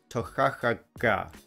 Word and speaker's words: Toiteach A Dhà: write on the bottle how you're supposed to pronounce the name of this whiskey, and it goes Toiteach A Dhà.